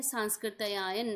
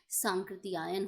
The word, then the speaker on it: सांकृत्यायन: तो ये बिल्कुल गलत है, सांस्कृत्यायन नहीं होना चाहिए था, बल्कि सांकृत्यायन होना चाहिए।